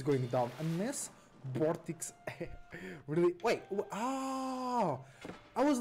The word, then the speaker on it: Vortix: No early aggression from Vortex. Because that's how you say his name in Spanish. It's Vortex. It's not Vortex, it's Vortex. In Spanish, in around the world, it's Vortex.